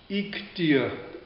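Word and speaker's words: Iğdır: großen Familienclans Amberg Ararat ik dir heißt die Stadt wird spricht man etwas anders aus aber geschrieben wird g ik dir dir IG dir und die Familie dieser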